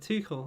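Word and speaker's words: Tuchel: core two i don't i always pronounce his name different every time i say but two cool i think is how you say it if he gets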